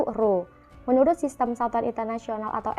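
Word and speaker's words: rho: tersusun massa jenis itu dilambangkan dengan huruf P seperti itu dan dibacanya itu roh menurut sistem satuan internasional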